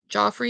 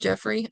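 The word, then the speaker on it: Geoffrey: what do I know Joffrey is pronounced Jeffrey okay Jeffrey Chaucer yeah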